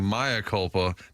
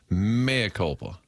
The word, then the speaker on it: mea culpa: Jackson for saying Maya culpa. Nice Latin, bitch. That was a harsh version. Gosh. And then Manupol Eligible said it is pronounced mea culpa.